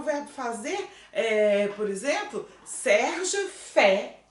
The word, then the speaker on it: fait: Olha, aqui a gente vai falar fait. Ó, aqui como eu tenho R, eu vou pronunciar o R. Faire, né? O verbo faire, o verbo no infinitivo, tá certo? Mas se eu estou pronunciando o verbo conjugado, il fait, vira só porque o que a gente falou? Mais I vira é.